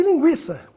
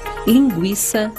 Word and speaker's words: linguiça: Embora o trema não seja mais usado, a pronúncia das palavras que recebiam trema continua a mesma. Ou seja, devemos continuar pronunciando a letra U. Portanto, nada de falar linguiça, sequestro, se inquenta, o